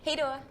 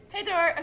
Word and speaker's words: hej då: Hej då. Hej då. Okay, so This is Elsa. And hej då. Hej då. Hej då. I just said hey door. Hej då.